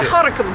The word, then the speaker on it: Gorinchem: The city of Gorinchem, spelt... G-O-R, it's spelled Gorinchem. That's right. Gorinchem. But don't speak it like a Boutenlander. But you say Gorinchem. That's it. Speak it like a local.